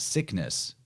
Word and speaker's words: Cygnus: son of Poseidon named Cygnus or sometimes actually spelled or pronounced sickness because G and C sounds are interchangeable.